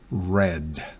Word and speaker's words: read: una sola run run pero el verbo read presente infinitivo pasado red recuérdelo número 5 Can